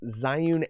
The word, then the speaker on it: Zhiyun: So you can get some great ones for your cell phone, for your small mirrorless cameras, like this Zhiyun M2, or Zhiyun, as actually how you pronounce it.